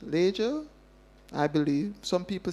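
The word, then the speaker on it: Lejja: And so, Leger is how it's pronounced. Leger. I believe some people say Lijah, but if you go to Ibuand, the oldest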